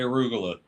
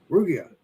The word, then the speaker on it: arugula: I mean, Alex, say arugula. Rugia.